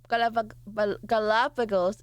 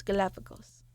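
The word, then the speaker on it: Galápagos: How do you pronounce Galapagos? I know the American way. Galapagos. Oh god. Galapagos. So it's like Pago. Galápago. Galapagos. Galapagos. Galapagos. I'm so Americanized.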